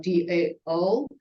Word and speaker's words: Dao: the two ways when Tao or Dao uh it's because of the pronunciation um to initially it's more like Tao but it sounds more in Chinese sounds more like da da da da so it